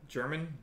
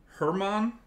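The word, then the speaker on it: Domingo Germán: the Yankees Domingos your mom going for a German your main German why did I say it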